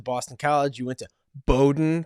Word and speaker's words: Bowdoin: You went to Bowdoin College. Did I pronounce it right? You did.